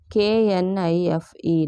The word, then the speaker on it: knife: K N I F E. Knife. K is silent.